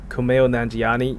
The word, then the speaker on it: Kumail Nanjiani: movie is Kumail Nanjiani a mic am i pronouncing this right Kumail Nanjiani yeah that's the guy he's the guy from